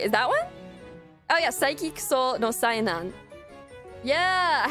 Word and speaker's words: Saiki: I thought it was like Psyche K, just how it looks. The Disastrous Life of Psyche K. Is that one? Oh yeah, Saiki Kuso no Sainan.